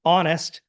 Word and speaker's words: honest: So honest, O, no H, so an.